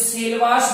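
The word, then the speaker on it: Selvas: कुछ वर्ड लिखा आपको सेलवाज, सेलवाज, तो इसका अलग ब्रिटिश प्रोनाउंसिएशन सेलवास भी होता है।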